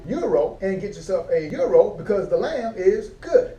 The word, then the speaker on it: gyro: But I've been ordering gyros because it's spelled G-Y-R-O. Didn't realize that it's really pronounced gyro. So all this time I've been saying gyro when really it's called euro.